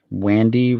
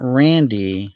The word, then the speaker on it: Wandy: Wandy Rodriguez. Wandy, not Randy. I didn't mispronounce that.